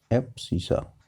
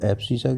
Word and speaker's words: abscissa: ये क्या है, एक्स कोऑर्डिनेट है और इसका नाम है एब्सिसा। स्पेलिंग है इसकी ABSC, ABSCISSA, एब्सिसा।